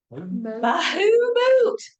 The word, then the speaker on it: Bahamut: Bahamut blessing. Bahamut. Yeah, that's how you say it. Bahamut.